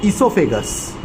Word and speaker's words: esophagus: Because after mouth, the food will pass through esophagus. O is silent.